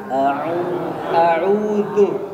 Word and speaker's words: أعوذ: نعم هناك كثير من الطلاب يقول أعو أعو أعو هذا خطأ لأن العين في هذه الحالة أنت أكلت العين وضعتها في داخل بطنك تمام؟ فيجب أن تلفظ العين صحيحة تقول أعو أعو أعو أعو أعو. الواو يجب أن تحرك شفتيك للأمام.